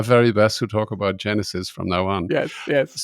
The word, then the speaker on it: GenAISys: And it was interesting, I forgot to hear you pronounce what I said, GenAISys, but you call it GenAISys, right? Yes, Genesis.